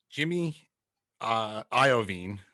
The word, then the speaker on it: Jimmy Iovine: So Jimmy Iovine, I think that's how you say it.